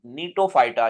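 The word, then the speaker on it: Gnetophyta: फिड belong to phylum नीटो फाइटा ये जी silent होता है नीटो फाइटा ऑफ जिम्नोस्पर्म्स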